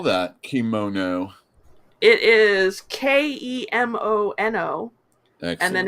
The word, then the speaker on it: Kemono: How do you spell that? Kimono. It is Kemono, Excellent.